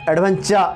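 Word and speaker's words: adventure: হয়ে যাবে তাহলে অ্যাডভেঞ্চার তাহলে আমরা চার বলবো না এডভেঞ্চার এভাবে উচ্চারণ হবে এরপরে কি আছে টেম্পারেচার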